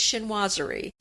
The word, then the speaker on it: chinoiserie: We know how to say it now. It's chinoiserie.